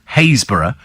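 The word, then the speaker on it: Happisburgh: in the same county one spelled hausburg but pronounced hayborough and the other is spelled stiffy but pronounced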